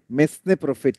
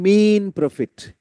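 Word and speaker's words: mesne: অন্তর্বর্তীকালীন মুনাফা, এইটার উচ্চারণ অনেকে কি বলে? মেসনে প্রফিট। ন, এটার উত্তর হচ্ছে মিন প্রফিট। মিনা শব্দটা আছে না, মিনা, মিনা কার্টুন, সেই মিনা, এটা বাদ দিলে মিন হয়।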